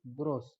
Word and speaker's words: grosse: In French, in masculine form, we pronounce it gros, GROS, gros. And in feminine form is gross, GROSSE.